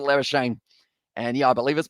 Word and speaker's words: Labuschagne: Africans in terms of they would pronounce it as Labuschagne, but instead, Labuschagne, he goes with Labuschagne.